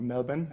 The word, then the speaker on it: Melbourne: He received his medical degree from the University of Melbourne, or Melbourne, as I was educated to pronounce it.